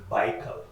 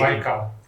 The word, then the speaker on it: Baikal: Can we talk about Lake Baikal? Pronounce that again.